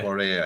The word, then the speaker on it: Bourrée: Bourrée, exactly how you pronounce it.